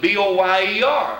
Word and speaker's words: Boyer: And it was B-O-Y-E-R. I said, oh, I thought that was Boyer, French. He laughed, and he said, well, it did used to be, until I came into the mountains.